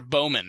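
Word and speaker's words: Baumann: Or Bowman, right? Bow. Oh yeah, Bow. There we go. Bow. Cool. Bow, man. Oh man, I'm so glad you said it right because I just butchered it twice.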